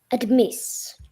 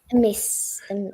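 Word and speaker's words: amiss: But we say a miss because a miss rhymes with what? Chris.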